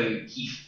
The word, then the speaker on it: HEIF: Right, so why am I talking about HEIF? And that's how they like to have it pronounced. So it can also end in a C for HEIC, which doesn't sound quite as nice to me, but let's go with HEIF for now.